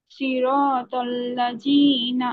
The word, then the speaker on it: صراط الذين: এই যে আপনার এই জায়গায় জিহ্বার আগা উপরের দুই দাঁতের আগায় লাগান, লাগিয়ে উচ্চারণ করেন সিরাতাল্লাযীনা। সিরাতাল্লাযীনা আনআমতা আলাইহিম।